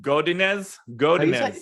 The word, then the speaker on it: Godinez: Godinez.